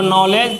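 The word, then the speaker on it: knowledge: और ये नॉलेज है, इसको नॉलेज पढ़ते हैं, इसमें भी के क्या है, साइलेंट है ना।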